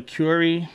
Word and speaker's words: query: It has a query or curry, or how do you say curry? Q-U-E-R-I, curry. Not like curry chicken, okay?